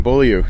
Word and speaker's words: Beaulieu: Joined now by Beaulieu.